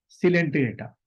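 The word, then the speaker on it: Coelenterata: फिर दूसरा आपका पॉरीफेरा के बाद जो है आपका सेकंड जो है सिलेंट्रेटा। इसकी स्पेलिंग जो शुरू होगी COELEN, सिलेंटिरेटा, TERAT, ठीक है। तो पहला क्या हो गया बच्चों, पॉरीफेरा लिख लो।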